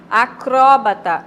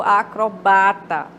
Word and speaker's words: acrobata: Acróbata ou acrobata, né? Você observe que troca o acento agudo, né? Do acró para o ba.